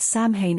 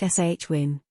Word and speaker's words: Samhain: However, a majority of them are pronouncing the word Samhain incorrectly, saying Samhain. In fact, the word is correctly pronounced shwin.